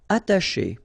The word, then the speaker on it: attacher: Attacher. Okay, you don't pronounce the double T, okay, ata, but then remember, C and H together, they will produce this sh sound.